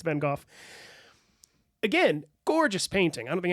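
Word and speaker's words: Van Gogh: Star Night by Vincent van go yep we always say van go in the United States but apparently it's van again gorgeous painting I don't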